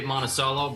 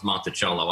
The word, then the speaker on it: Monticello: Uh, we usually say Monaceelo, but honestly, it probably should be pronounced Montichello. I had a cross country coach back in college that used to always say Montichello, and he was the only one that said it that way, but I I kind of liked it.